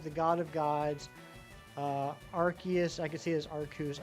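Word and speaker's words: Arceus: But but uh yeah, I mean it's it's Archus. It's Archus, but it could be Chaos or Cha. Yeah, not Chaos. Chaos could be interesting.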